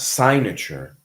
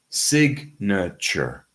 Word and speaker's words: signature: It's not signature, it's signature.